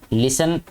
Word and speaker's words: listen: जमात में, वी लिसन, लिसन LISTEN बेटे ये लिसन होता है, इसमें टी साइलेंट है, वी लिसन टू आवर